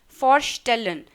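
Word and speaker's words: vorstellen: हैं जिश फॉरस्टेलन, जिश फॉरस्टेलन यानी कि इंट्रोड्यूस करना। ये वर्ब मैं आपको यहाँ पे लिख देती हूँ, फॉरस्टेलन, VOR, जब मैं इसको प्रोनाउंस करूँ तो हो गया FAORSTALLAN।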